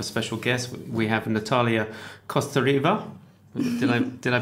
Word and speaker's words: Kostareva: We have Natalia Kostareva. Did I pronounce it right?